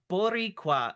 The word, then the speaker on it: Boricua: Uh 10, pronounced Boricua. Uh god damn it. I didn't read the comment. No. Pronounced Boricua. Uh roll the R at team C bet.